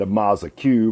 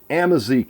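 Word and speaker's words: Amazique: right here it's amazing I've been calling it a Maza Q because I don't know how to pronounce it but anyway amazick is the name of this wood I've got Limba on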